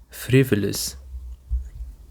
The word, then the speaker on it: frivolous: Now let's go to the third word that we have and it is frivolous. Frivolous. The stress is on the first syllable.